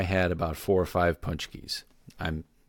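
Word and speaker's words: pączki: key it's really weird it's a polish word and it's pronounced with an n even though there's no N in it it's basically a giant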